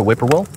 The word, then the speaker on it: whippoorwill: "Their call sounds just how you pronounce their name," Jake explained. "Whippoorwill. The whip starts out normal. The pour drops down in pitch, and the will is stretched out as it raises in pitch."